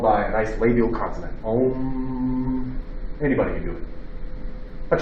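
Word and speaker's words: ॐ: Literally, those are Sanskrit letters which say Om. What is it? The sacred syllable.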